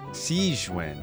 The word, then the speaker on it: Sigewinne: Sigewinne, that's how you say it, okay.